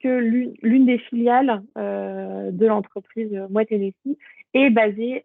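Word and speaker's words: Moët Hennessy: Et on a une autre entreprise, donc là, alors, ça je le prononce bien, Moet Hennessy, donc c'est une entreprise de vin et de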